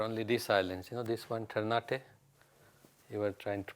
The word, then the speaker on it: Ternate: This one, Ternate. You were trying to pronounce Ternate earlier on.